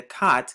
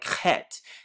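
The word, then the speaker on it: ח: symbolizes wall of separation, they pronounce it like chet. And the reason it's pronounced like chet for them is because it's a German and it's of Germanic deviation and Germanic origin.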